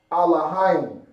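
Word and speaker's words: אלהים: It's going to be pronounced Alahayim.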